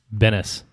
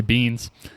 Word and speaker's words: Benes: By the way, her last name is it's spelled Benes. Benes. Okay. I was going to say beans.